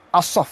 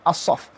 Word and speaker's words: Asaf: begitu juga cerita Asaf asap bacanya Asaf Asih Melayu kita Pangea